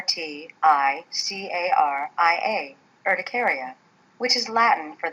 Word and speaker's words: urticaria: like hives the medical term for hives is ticaria that's spelled u r t i c a r i a ticaria which is Latin for the sting of